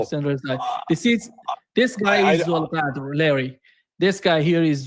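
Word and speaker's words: Zolghadr: So Mohammed is it Mohammed Bakr Zolqadar? Yeah, no, Muhammad Baqir Zulqadr. Zolqadr. Okay, I'll work. Zulqadr. Yeah, it's difficult for you to Zulqadr. pronounce that. It's Zulqadr.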